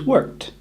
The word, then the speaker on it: worked: Is that a d? No, it's actually a t or a soft T sound.